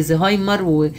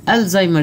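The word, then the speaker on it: Alzheimer: الالزايمر ديزيز نفسي الناس ما تنطقوش تقول عندي زهايمر، ونفسي ينطقوه صح، الزايمر ديزيز. والالف واللام دي مش الف ولام تعريف، ده اسم العالم اللي اكتشفه سنة 1906 اسمه ألويس الزهايمر.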